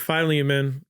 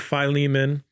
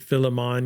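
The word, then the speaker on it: Philemon: They gave me the book of Phileiman and I I think I first pronounced it Filimon, you know. I I I rhymed Filimon like five times, you know, and then they're like, "They just thought you were being clever."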